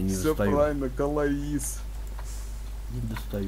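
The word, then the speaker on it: Calais: Все, кто в ЕТС катают, все знают, что это Калаиз город называется, а не Кале. Кале. А он Калаиз на самом деле. Ну читается он Кале.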